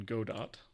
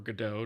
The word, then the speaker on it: Godot: He's making a game in Godot. Or Godot, depending on how you pronounce it.